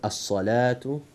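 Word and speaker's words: الصلوة: So that the word as-salatu, that is because we don't pronounce letter Waw, and just we pronounce Lam and then Alif.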